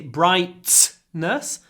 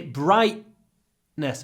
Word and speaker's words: brightness: your glottal stop so glottal stop is when we say we don't say brightness we say brightness bright bright and we stop the sound in our throat with our vocal cords brightness the brightness and